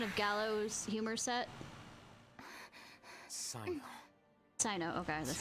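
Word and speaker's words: Cyno: Sino, okay, that's how you say it.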